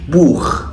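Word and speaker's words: Buch: سي اتش سي اتش عندنا لو جت بعد ثلاث حروف معينين بتنطق خا خا الثلاث حروف دول هم الا او احفظهم عشان لو السي اتش جت بعدهم بيتنطق خا ثمشبيل بوخ بوخ يعني كتاب اوضه نخ يعني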